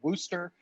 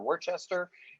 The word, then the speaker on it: Worcester: northeast where they have a town in massachusetts called wooster it does not look like that whatsoever and if you pronounce it worcester or worchester you're gonna get laughed at and kicked out of